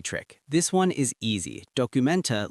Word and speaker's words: Dokumente: Documenta looks almost identical to the English word documents, just add an e sound at the end.